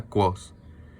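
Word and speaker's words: Kvothe: que se pronuncia quos.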